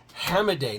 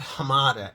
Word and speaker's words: Hammeday: Hammeday, not Hamada. Hammeday. Abe Hammed.